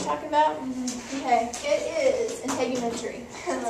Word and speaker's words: integumentary: the word you're talking about okay it is integumentary that's how you say it um it's made